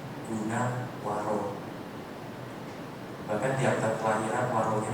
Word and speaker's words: Gunawaro: Nama saya Gunawaro, bukan Gunawan. Ya gak apa-apa. Banyak orang salah spelling nama saya. Banyak orang mengucap nama saya itu Gunawan. Nama saya itu Buddhis banget, Gunawaro.